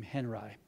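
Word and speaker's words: Henri: an artist named believe it or not Robert Henry it looks like it was you would pronounce his name differently but he was an American Artist and he was pronounced his name Henry the object isn't to make art it's to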